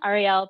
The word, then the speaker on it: Ariel: Ariel pronounced like the letters R-E-L, and like the color, so that part's easy.